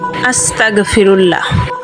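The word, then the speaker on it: أستغفر الله: ইস্তেগফারের শুদ্ধ উচ্চারণ হল আস্তাগফিরুল্লাহ। আস্তাগফিরুল্লাহ।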